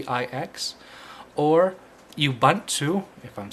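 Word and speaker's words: Ubuntu: say download knopic knopic is a live CD it's spelled k n o p p iix or you bunt to if I'm saying that right ubu n Tu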